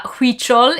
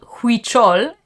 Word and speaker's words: Huichol: play spell it uh huichol is a h-u-i-c-h-o-l it's spelled huichol and you say wait it spell like hui chol and you say huichol from if i remember